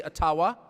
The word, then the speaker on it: Ottawa: It cannot be taken from you, no matter who is in Ottawa, or as we say, Ottawa, which, by the way, is the correct pronunciation according to my friends in the Ojibwa community.